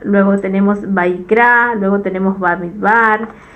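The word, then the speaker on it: במדבר: luego tenemos shemot luego tenemos baik luego tenemos bamidbar y después de barim beres que significa en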